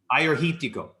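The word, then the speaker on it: Agiorgitiko: I was wondering how to pronounce that. What is it? Ayerhitico.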